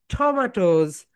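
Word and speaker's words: tomatoes: How many syllable, my dear students? How many syllable? সবাই বলো। Three syllable। Three syllable। ইটস a trisyllabic word. It's a trisyllabic word. তাহলে এটা right pronunciation কি বলতো? টমাটোজ।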